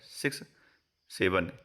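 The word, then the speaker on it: 6-7: इस शब्द का उच्चारण है सिक्स से।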